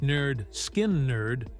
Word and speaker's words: Lynyrd Skynyrd: the subsequent release of the band's debut album pronounced elot nerd skin nerd served as their official introduction to mainstream Rock